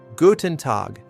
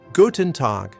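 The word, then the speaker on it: Guten Tag: Gutenad. Guten to. Notice the T sound in to tag is hard, not soft. Guten to.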